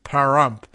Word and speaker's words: Pahrump: I don't know how you pronounce this paramp p-a-h-r-u-m-pah rump parumpa pum pum I don't know this is a new one I mean Pahrump like haramf but not Nye is the largest